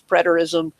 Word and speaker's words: preterism: Some people, as I mentioned, preterism, I looked it up to make sure I was pronouncing it right. It is preterism.